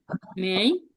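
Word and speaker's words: 没: এটা হচ্ছে second tone, মেই। আমার সাথে বলেন, মেই, সেকেন্ড টোনটা কি, এটা রাজিং টোন, নিচ থেকে উপরে উপরে উঠবে এরকম, মেই কোয়ানশি।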